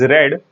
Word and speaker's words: read: simple past sense is red it is pronounced as red the spelling remains the same ready but then it is pronounced as we pronounce the color red is something we all